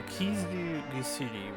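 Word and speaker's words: 傷薬: Is it Kizu? I forget what that one is. This is healing medicine then. Kizu Gusudi. Yeah, Kizu Gusudi.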